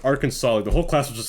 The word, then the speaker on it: Arkansas: so funny it's clearly it's literally said it's our Kansas she's like it's pronounced Arkansas the whole class was just like it's pronounced Arkansas I'm like laughs uh I'll never forget that